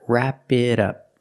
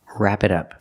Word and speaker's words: wrap it up: Pronunciation, the T in it is pronounced as a fast D because it's between vowels. Together, wrap it up, it up, it up, wrap it up.